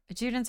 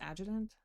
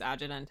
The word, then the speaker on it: adjutant: Oh, I think I pronounced that wrong. I think it... I looked it up. What is it? Hold on, I'm looking it up again, because... I don't know how to pronounce that. I think it's adjutant. Yeah, it's adjutant.